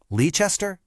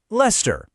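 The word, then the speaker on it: Leicester: How would you say it? Seriously, say it out loud. Lester? Leester? Give it a go. And the answer is Lester. Yep, just two syllables.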